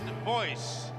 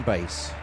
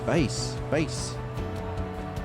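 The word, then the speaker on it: Buis: And you see the announcers called him Dean Boyce, but it's Dean Bass. I'm reliably informed. My wife's South African. She coaches me on my pronunciation, and I called him Boyce the other night, and I tell you, when I got in, I got a rocket. She says it's Bass.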